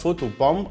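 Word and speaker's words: photobomb: ومن العنوان ده هنعرف فوتو بام، علشان ده عنوان حلقتنا النهارده، البي اللي في الاخر مش بتتنطق لانها جايه بعد حرف الام في اخر الكلمه، زي في كلمه كوم اللي هي معناها مشت، وزي كلايم يتسلق.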